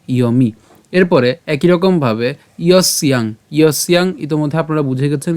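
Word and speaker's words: যস্যাং: ইয়স পর্যন্ত উচ্চারণ করার পরে জফলের উচ্চারণ আমরা যেহেতু জানি হচ্ছে ইয় হয়, এবং তার সাথে আকার এবং অনুস্বার যদি আমরা যুক্ত করি তখন সেক্ষেত্রে আমাদের উচ্চারণটা কেমন হবে? ইয়স্যাং। এরপর জাগ্রতি, জাগ্রতি ভূতানি সা নিশা পশ ইয়ত মুনো।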